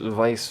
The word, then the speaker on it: Weiss: And the W is pronounced in like a V fashion in his name, so.